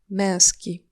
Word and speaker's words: męski: On, wąż, Serpent, en, męski.